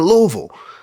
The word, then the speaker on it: Louisville: What are you doing here in Louisville?